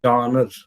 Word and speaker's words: genre: story so john is the french word the pronunciation is you know johnner johnner it's derived from the french phrase genre